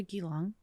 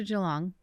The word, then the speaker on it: Geelong: So after Geelong. Yeah, I was like, nope, I said it wrong. After Geelong, how long were you there?